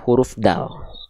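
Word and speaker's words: دال: Dal teman-teman sekalian nah Apakah huruf Dal itu dilafalkan sama seperti kita melafalkan huruf D pada abjet alfabet ada yang beranggapan huruf Dal itu sama seperti huruf D pada abjid alfabet nah belum tentu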